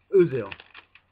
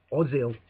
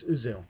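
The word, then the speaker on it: Özil: say his name right oil uzil not oil like they say on Sky Sports sometimes it's uzil right or some of like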